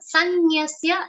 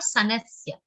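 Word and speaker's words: संन्यस्य: Mai sanyasya, sir, is followed by two ner sounds, two half ner sounds and a complete ya sound. So sanyasya and not sanasya.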